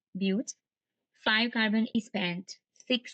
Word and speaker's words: but: three carbon is prop four carbon is but it's pronounced but five carbon is pent